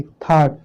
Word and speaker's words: thought: और एग्जांपल देख लीजिए, THOUGHT, थॉट। थॉट का मतलब क्या होता है, सोचा, क्या होता है, सोचा। तो देखिए यहाँ पे देखिए यू आया है इसलिए साइलेंट है, और GH भी आपका साइलेंट है, ये पहले नोट में बता दिया गया है, ठीक है। ये एक साथ हो तो ये GH भी आपका क्या रहता है, साइलेंट रहता है।